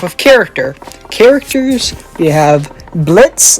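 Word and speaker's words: Blitzø: character characters we have blitz the o is silent luna moxie and millie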